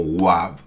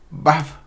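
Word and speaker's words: ו: Por ejemplo, hay algunas controversias si esta letra, se pronuncia como Wab o como Baf, así. Yo le podría dar mi razón porque yo menciono con la letra Wab.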